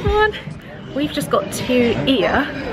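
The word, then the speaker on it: Oia: hey man we've just got to ear which looks like it's pronounced oil but it's here in Santorini yeah we just settle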